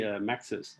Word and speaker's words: Mapxus: the co-founder and the co-founder and CEO of Mapskus. Am I pronouncing that right John? Mapskus. How do you say it? you you I'm not a native English speaker so I don't you but we usually say Maxis.